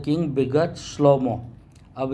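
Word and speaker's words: שלמה: अभी श्लोमोन बोलते हैं, सुलेमान बोलते हैं, सोलोमोन बोलते हैं, ये सब गलत उच्चारण है। श्लोमो बोलना है।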